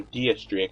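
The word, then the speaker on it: Diez: I think X-Drake, or DS-Drake as I really should pronounce his name, has his own sense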